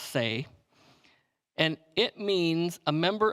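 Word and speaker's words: seh: the is the spelling of it but it's pronounced say and it means a member of a grazing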